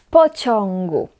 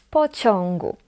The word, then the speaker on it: pociągu: And before g, we pronounce it as on.